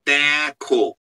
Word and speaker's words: দেখ: জফলা আকার খয় ওকার দেখো বাট লেখা আছে কি লেখা আছে দেখ দেখ দেখো এটা লেখা আছে বাট আমি বলছি দেখো লেখা আছে একটা আর আমি উচ্চারণ করি আরেকটা তাহলে 100 বছর আগে